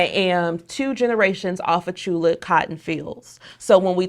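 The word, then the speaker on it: Tchula: is from Chula Mississippi Chula is spelled with the t t c hu La it's in central Mississippi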